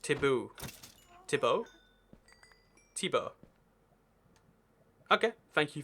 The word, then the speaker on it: Thibaut: Oh, it's pronounced Taboo.